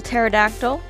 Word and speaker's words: pterodactyl: fernessa with her little pterodactyl tilly spelt the way you spell a pterodactyl with the silent p i don't like the